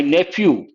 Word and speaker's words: nephew: americans don't say nephew in british english ph pronounced as a letter f so we say nephew but americans say nephew